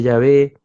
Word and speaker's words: Yahvé: ya ni siquiera los sacerdotes fueron capaces de pronunciar el nombre de de Jehová, el nombre de Yahvé, algunos dicen Yahweé.